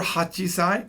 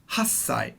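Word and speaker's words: 八歳: nanasai 8 years old is never hachisai it's always hassai now kyusai can never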